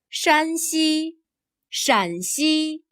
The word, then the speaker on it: 山西: There is a very subtle difference in the tone of the first syllable. Here 山 has a high level tone. 山西 Here 陕 has a lower, falling tone.